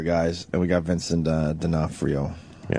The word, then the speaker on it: D'Onofrio: We got the Wire guys, and we got Vincent D'Onofrio. Yeah. Is that how you say his name? D'Onofrio, yeah. I always have a problem with that.